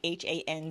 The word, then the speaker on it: Han: Han slim arm challenge I realize that when I say her name it sounds like h a n z it's just Han H an so Han apostrophe s um and I want